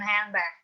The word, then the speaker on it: handbag: Now, for example, most American English speakers do not pronounce the D in handbag.